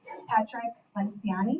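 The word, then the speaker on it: Patrick Lencioni: This one that Renae recommended is called The Advantage by Patrick Lenciani. Is that how you pronounce it?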